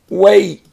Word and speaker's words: weight: And how much you weigh is your weight. And you can hear the t on the end.